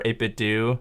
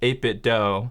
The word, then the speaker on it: 8BitDo: responded to them said it's 8-bit do like scooby-doo so if you're reading